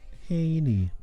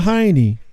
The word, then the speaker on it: Haney: Say his name again. Hank Haney. Haney. Haney. Not Heine. Not Haney.